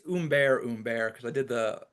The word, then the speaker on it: Humbert: And I think it's Humbert because I did the pronunciation. Right. Oh, And very French, right. Humbert.